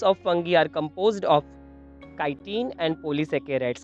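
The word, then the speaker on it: chitin: The cell walls of fungi are composed of काइटिन and polysaccharides. कई लोग चीटिन word भी यूज करते, pronounce करते हैं, काइटिन भी कह सकते हैं।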